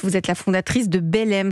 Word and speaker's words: Belleyme: Vous êtes la fondatrice de Belem. Ça s'écrit B-E-2-L-E-Y-M-E.